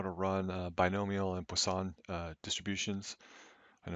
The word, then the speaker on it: Poisson: to run binomial and Poisson distributions and it looks like poison but I believe it's pronounced with the French pronunciation of plus all but